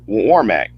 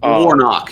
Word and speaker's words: Warnock: Against Herschel Walker and Senator Warmack. I hope I pronounced his name right. Warnock, yes, but yes.